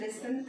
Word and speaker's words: listen: इस वर्ड को बोलते हैं लिसन. क्या बोलते हैं? LISEN. प्रोनाउंसिएशन है लिसन. टी इसमें साइलेंट है. This word has T silent.